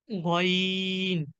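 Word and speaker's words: غين: গইনের উচ্চারণ গ, গইনের উচ্চারণ ঠিক খ থেকে। খ এবং গইন, কণ্ঠের আমাদের যে কণ্ঠ রয়েছে, আমাদের গলা রয়েছে, গলার শেষ ভাগ থেকে, একদম জিভ যেখানে শেষ হয়েছে ঠিক সেখান থেকে।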